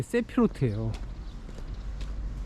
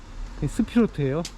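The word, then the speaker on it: ספירות: 유출 개념이 이제 세피로트예요 사람들이 세피노트 세피로트 그러는데 히브리어를 제가 이걸 카발라를 얘기하기 위해서 히브리어 문법을 따로 공부했어요 요즘 그래가지고 보니까 세피로트는 이게 엉터리 발음이에요 이게 그래서 이게 이제 그 하나님이 아인 소프가 유출된 것이 스피루트에요 이건 복수예요 복수 10개이기 때문에 10개의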